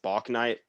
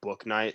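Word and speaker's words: Bouknight: james book night which i keep saying bach night but apparently it's pronounced book night so if that upsets you trust me i think it should be block night two but um i've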